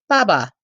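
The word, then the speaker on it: 八八: That date, 8/8, is pronounced Baba in Chinese, and Baba is Chinese for father.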